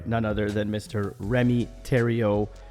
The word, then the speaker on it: Thériault: other than Mr Remy Terio pronounced like Ontario but spelled a lot differently uh Remy is an